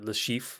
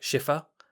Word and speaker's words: Le Chiffre: the modern Casino Royale, it's a French name, so you'd be like Le Chiffre and you wouldn't really put the R on.